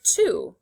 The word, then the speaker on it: to: This is the sight word to. Say to. The 2 O's at the end of to make the oo sound.